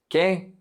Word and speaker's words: qué: And ¿qué? ¿Qué? The U is silent. ¿Qué?